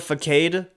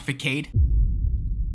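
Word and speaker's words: façade: emotionally damaging Bella Bella may use the word fade I think that's how you pronounce it when this did this just pronounce facade faade dud and y'all call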